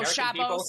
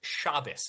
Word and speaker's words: Shabbos: I saw the whole video, Chabos. I've seen the entire video. Okay. Yeah, I've seen the whole thing. Also, it's pronounced Shabbos.